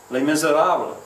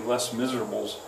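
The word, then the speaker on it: Les Misérables: he would say uh les miserables he wouldn't pronounce it right he'd probably say less miserables uh victor hugo page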